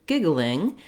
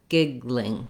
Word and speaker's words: giggling: sound giggle giggle then when we go to giggling we have two options one is is uh similar to giggle plus an ing the other is to leave that ah out and you can go right to between the g to the l the g to the ol giggling giggling um this uh if you